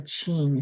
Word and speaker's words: Ging: It sounds like a Ching, C-H-I-N-G. So pronunciation sounds like a C-H, Ching.